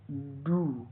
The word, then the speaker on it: dew: DEW का उच्चारण डू।